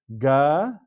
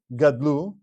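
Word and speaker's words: גַּדְּלוּ: Gadelu, not Gadlu. If we were to read this as Gadlu, as 2 syllables, and make that Dalid a Sheva Nach, Gadlu. But you see there is a Dagesh in that Dalid. Therefore, because of this rule, it's Gadelu. Gadelu.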